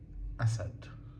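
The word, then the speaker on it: أسد: asad And if I want to write the pronunciation in English, I have a s d. I say Asad.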